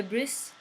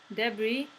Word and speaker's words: debris: meaning to Pumas blackened debris not the breeze debris the S is silent and some of them